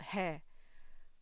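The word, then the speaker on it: は: I'll just Okay, this one usually you read it as ha. Okay. Ha. But when you use it as a particle, you read it as w.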